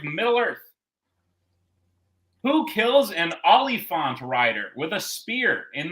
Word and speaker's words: Oliphant: Who kills an Oliphant rider with a spear in The Return of the King? I spelled Oliphant like the actor. Yeah. So I learned that it is said like elephant.